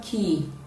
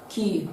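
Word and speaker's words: quay: option b we have key you can see that they are spelled differently but they have the same pronunciation option c sits this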